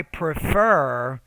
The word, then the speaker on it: prefer: so in this case it's i prefer so you want to put stress on the second syllable so make that second syllable clearer louder longer and higher pitched rather than studying on